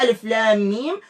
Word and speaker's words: ألم: الشرح نفسها ككتابة نفسها، لكن النطق يختلف. لماذا هذه ألف لام ميم وهذه ألم؟